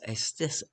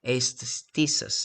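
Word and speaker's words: aisthesis: Aesthesis, I think. Aesthesis. It's a Greek word.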